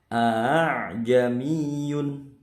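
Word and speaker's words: ءَأَعْجَمِيٌّ: Membacanya yaitu a'jamiyun, ya, bukan a'a tapi a'jamiyun, meringankan hamzah yang kedua.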